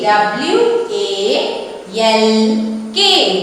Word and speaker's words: walk: W A L K becomes walk. Walk. I told already. Here which letter is silent? A. No, which letter? L. Very good.